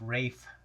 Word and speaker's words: Ralph: Yeah, so Ralph Fiennes. I've also been told his name is Rafe Fiennes. I don't really know how you pronounce it.